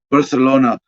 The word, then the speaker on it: Barcelona: asina uh well a barcelona politician i guess i suppose i suppose i should be using proper spanish pronunciation barcelona yeah the lisp thing oh my gosh uh